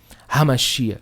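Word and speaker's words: המשיח: Ha, não. Aí você está falando mal em hebraico. Hamashia, leve na garganta.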